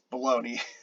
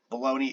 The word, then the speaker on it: Bologna: I'm pretty sure that's how that's pronounced because that's Bologna. So um, in Italian, the G and the N make a ny sound like in Spanish, the Nye. So Bologna, Italy.